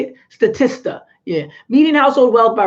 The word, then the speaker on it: Statista: Statista.